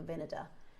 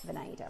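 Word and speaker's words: Vinader: So, if you go to Monica Vada or Monica, it's actually pronounced Monica Vineda. For years, I've pronounced it Venada, right?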